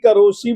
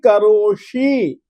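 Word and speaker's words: करोषि: प्रकट करोशी प्रकट करो देखिए आप लोग प्रकट करोसी बोल रहे हो जबकि प्रकट करोसी अशुद्ध पाठ है स तीन प्रकार का होता है एक दंत्य एक तालव्य और तीसरा मूर्धन्य प्राकृत में केवल दंत स ही होता है तालव्य और मुर्धन्य श श इसके स्पर्श में अंतर बिल्कुल स्पष्ट होना चाहिए और स आप लोग स बोलते हो स नहीं मुर्धन्य स है प्रकट करोशी बोलिए प्रक करो प्रकट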